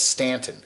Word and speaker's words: Staunton: park now that's virginia they always spell it s-t-a-u-n-t-o-n staunton but it's stanton up there in the